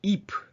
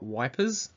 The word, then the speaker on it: Ypres: Third Battle of Ypres that's pronounced EEP not wipers although the Allied troops